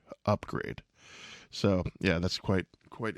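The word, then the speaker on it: Upgrayedd: it could have oh it's oh upgrade upgrade upgrade but it's spelled up PG r a y e d d upgrade so yeah that's quite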